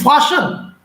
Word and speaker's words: fasten: They find a belt to fasten. Fasten. The spelling of fasten is FASTEN. FASTEN. Fasten. Fasten. T is silent here.